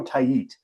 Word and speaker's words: Tait: and I was like, "So this Eduardo tape guy looks really good." And they were just like, "That's that's not how you say it." And I was like, "Thank you. I will never say it that way again." Uh Eduardo Tait.